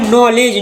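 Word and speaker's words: knowledge: के एन ओ डब्ल्यू एल ई डी जी ई का पड़ी नॉलेज नॉलेज में मतलब ज्ञान इमें के साइलेंट ठीक है एस सी ई एन सी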